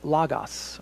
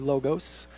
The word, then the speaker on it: logos: a new way and that word is Lagos or logos depending on how you try and pronounce that it's translated here